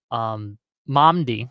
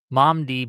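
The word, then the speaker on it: Mamdani: Momdi, I think that's how you pronounce his name, recently won the primary runoff thing they had Mhm.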